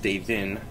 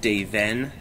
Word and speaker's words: Davin: McDurrin, and it's pronounced Davin, not Daven, because it's actually a demonic name, and it's not pronounced the Irish way.